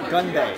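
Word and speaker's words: 건배: So it's Gunbae.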